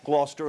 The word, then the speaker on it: Gloucester: quick to learn that no matter how it was spelled, Gloucester and Worcester are still pronounced Gloucester and Worcester, and it's Faneuil Hall, not Faneuil.